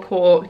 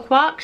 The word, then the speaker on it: Quark: I saw this, and it's Lindor's Quark, or Quark, depending on how you say it, and it's a